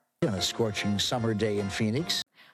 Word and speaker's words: Phoenix: Phoenix. So, of course, you heard that ph as an F, just like with phone. Fe Phoenix. Nyx. So, you have that ks together.